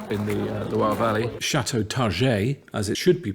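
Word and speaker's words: Targé: Chateau Target, as it should be pronounced, next to Saumur, and they're forcing us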